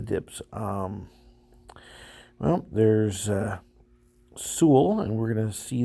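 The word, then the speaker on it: Sewell: and I usually get someone say is this seawell New Jersey let see it's pronounced Su but enough of that um I did see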